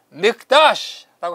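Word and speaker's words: מקדש: 카도시, 거룩하다에다 앞에 마를 붙여가지고 믹다시라고 하면은 거룩한 곳, 성소를 말합니다. 믹다시 앞에 때로는 마로 발음하고 때로는 미라고 발음하고 그렇게 발음은 그 명사의 형태에 따라서 발음이 조금 다르게 나는 것이 히브리어의 일상입니다.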